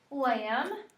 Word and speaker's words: lamb: MB words MB um lamb spell lamb l a m b and what letter are we Crossing out that s b good and what